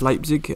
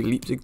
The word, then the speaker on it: Leipzig: hoffenheim and one against leipzig uh make sure you forgive me if i do say leap throughout this because uh that's just the way i've always said it wrong but um yeah we're